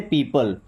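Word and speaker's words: people: Okay, यहाँ पे ओ को साइलेंट माना जाता है, यानी कि ई की तरह उच्चारण होता है उसका भी। तो क्या पढ़ते से? पीपल।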